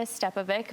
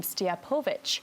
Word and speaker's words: Stjepovic: back to the States so it is stepovic but in Croatia they pronounce the last name stiapovic but that's a little too much for us